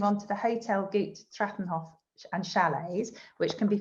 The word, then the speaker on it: Trattlerhof: The Trattlerhof is the, so to speak, historic guest house that has been developed to Hotel GUT Trattlerhof and Chalets.